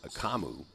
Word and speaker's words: Akamu: Going down low, can't handle the pass, and that's going to be out on Akamo. And Kamu, I'm going to say his name right. There we go. I've got it. Akamu.